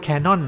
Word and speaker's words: Canon: คือ Canon นะ ครับ ชื่อ จริง ๆ อ่าน ว่า Canon นะ ครับ คน ไทย ก็ ตัด